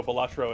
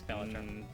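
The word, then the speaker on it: Balatro: So, Batro it is. Sorry, Max. You're wrong. Bellatro. It's Bellatro.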